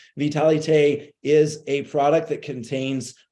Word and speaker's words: Vitalité: The French pronunciation, Vitalité, is a product that contains 4 capsules, powdered capsules that are all the same.